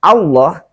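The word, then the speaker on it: الله: atau dhomah maka lafal Allah dengan lamnya lamnya itu harus dibaca tebal Bagaimana tebalnya itu bunyinya menjadi lo bukan lo dengan bibir monyong ya tapi lo Bagaimana cara membunyikan huruf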